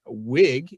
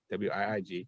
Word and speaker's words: Wiig: It also stars Kristen Wiig, if I'm pronouncing her name right, because she has two I's, W-I-I-G, Kristen Wiig, as Barbara Minerva, and Pedro Pascal.